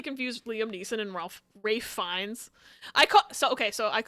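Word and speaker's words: Ralph Fiennes: it and she's like you know it's got Ralph fenes in it and we all just started laughing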